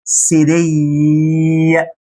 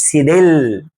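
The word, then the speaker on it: cédille: الاس الصغيره اللي في ديل السي دي اسمها اكسون سيدي. اكسون سيدي. سيدي مش سيدل، مش حاجه اسمها سيدل.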